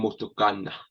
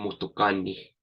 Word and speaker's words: motokani: Notice I'm not saying motokana. I'm saying motokani, motokani.